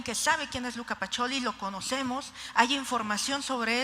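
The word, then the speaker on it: Pacioli: nos tuvieron que decir que se pronunciaba pacholi Pero sabemos que es Luca pacholi vemos una imagen y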